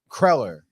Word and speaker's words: cruller: Well, it was a Kreller is how my mother pronounces it, which I'm pretty sure is the correct way, French Kreller. But I could be, a cruller. I've heard cruller. I've heard Kreller.